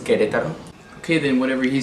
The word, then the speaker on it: Querétaro: Vianna, it's actually pronounced Querétaro.